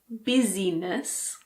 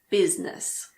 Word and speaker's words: business: The main exception is in the word business. It's not busyness, it's business.